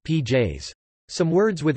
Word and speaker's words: pies: For example, pies, dog, is pronounced pj's.